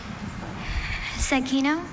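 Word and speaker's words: zecchino: Seino.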